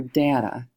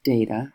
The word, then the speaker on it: data: So now we look at our data, or our data, it's pronounced both ways, and we're going to put an X above the number for each data point.